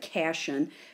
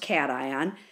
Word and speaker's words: cation: is called a cation I know it looks like Cashin but it's pronounced cation and I remember it's